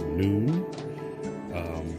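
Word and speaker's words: נון: So this card here, as you can see, it's if you look at the middle, it's pronounced noon.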